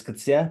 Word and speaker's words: Coetzee: t z we the official pronunciation is Kia but who cares about that wayne.